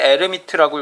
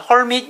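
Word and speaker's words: Hermite: 자, 이렇게 쓰는데 이게 H가 묵음이라서 에르미트라고 읽고요. 뭐 독일에서는 에르미트라고 있는데 영어권에서는 헐밋 연산자라고도 합니다.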